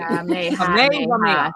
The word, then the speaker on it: Kamehameha: Thank you for spelling it out phonetically. Kamehameha.